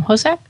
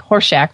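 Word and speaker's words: Hossack: think of Alison hosac how do you pronounce her name hosac I think so okay it's not like hor Shack from from welcome back hter I think I think she would have gone out of her way to not pronounce it that way okay good good good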